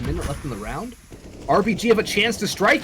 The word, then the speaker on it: RBG: It's going to allow RBG, or RGB, RBG, I did say it right the first time.